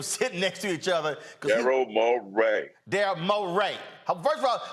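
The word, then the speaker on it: Morey: you made him Creo no darl look lookl moay darl moay I I watched back fact I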